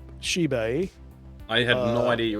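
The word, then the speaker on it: Qanba: It starts with a Q, but I believe it's pronounced Shi or Chai. Shi. Okay. Shibe. It's like Q-U. Oh, jeez. Q-A-N-B-A. Q-A-N-B-A. All right. That's the name of the company. But you pronounce it Shibe.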